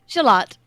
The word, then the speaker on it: Shalott: Shalot. Like Lady of Shalott.